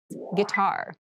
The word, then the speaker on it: guitar: casual clothing casual clothing guitar guitar guar this word has kind of an interesting spelling it starts with GUI but we pronounce this as G so a guitar is